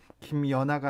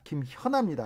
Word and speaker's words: 김현아: 1457님께서 주 진행자님 김연아가 아니라 김현아입니다. 발음 좀 똑바로 하세요. 확실히 하세요. 김현아입니다.